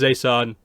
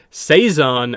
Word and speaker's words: Zeisan: keep in mind the the way it's spelled is z e i s a n but they pronounce it as if it's the S and the Z are like reversed that's like say Zan rather than Zay San now I don't know